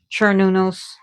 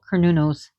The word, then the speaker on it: Cernunnos: And yes, it should be pronounced, some people pronounce them Cernunnos. But in Celtic languages, the Gaelic languages, I should say, the C is actually a K.